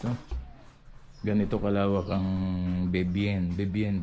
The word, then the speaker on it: Vivienne: Bebien pala ang pronunciation nito.